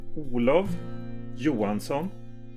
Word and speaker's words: Olov Johansson: My name in Swedish pronunciation is Olov Johansson.